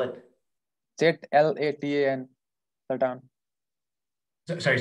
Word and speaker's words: Zlatan: Can you pronounce Slatan? What's that? Slatan. How do you spell it? Z-L-A-T-A-N, Slatan.